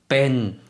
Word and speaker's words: เป็น: 어떻게 발음하는지 한번 들어볼게요. เป็น 네.